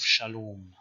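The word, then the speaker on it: שלום: canaanite shift which means proto-semitic long r became o which is why in proto-semitic the word for peace is salamu but in canaanite we have shalom second feature is the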